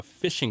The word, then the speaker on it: phishing: of scam so a phishing scam and they spell it with a ph so it's ph ph sounds like f so a phishing scam